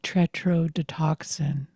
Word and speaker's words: tetrodotoxin: The funny thing in that scene was that Booth kept mispronouncing tetrodotoxin. Yeah, he kept saying Over tetrahydrogen. hydrogen. And over. No, but you would call it different things. Tetra Tetrahoclin. something, tetra this, tetra that. And they kept correcting him.